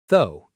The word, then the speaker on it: though: A lot of learners try to say every letter but it's actually very short though. Almost like the word go but with a th sound.